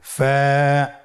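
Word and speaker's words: ف: ফা কফ কাফ লাম মিম নুন ওয়াও হা হামজা ইয়া। ফা হরফটি আপনারা স্ক্রিনে দেখতে পাচ্ছেন। ফা হরফটি উচ্চারণের ক্ষেত্রে বারিক হবে এবং এক আলিফ টেনে পড়তে হবে।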